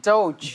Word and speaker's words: DOGE: As far as I understand, this is the pronunciation of it, DOGE.